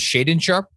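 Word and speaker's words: Shaedon Sharpe: out there on and that's uh am i pronouncing his name is shaden sharp right yeah okay um i i'll let you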